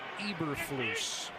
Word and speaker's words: Eberflus: It's pronounced Eberflus.